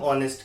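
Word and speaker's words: honest: लगाना है जैसे हम ऑनेस्ट के साथ करते हैं एन ऑनेस्ट पर्सन स्पेलिंग में एच आ रहा है बोलने में ओ आ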